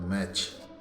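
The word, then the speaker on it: match: eighty सीच है ना य टी के बाद में सीच दे रखा है तो टी साइलेंट है य पर टी का उच्चारण नहीं होता जैसे एमटी सीच तो मैच है ना वल टी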